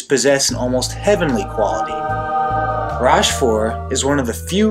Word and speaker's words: Rochefort: And according to the internet and the audio translation, it's Rochefort, so that's what I'm going with.